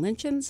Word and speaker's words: lichens: liverworts, and I think this is how you pronounce it, and lichens of Ohio?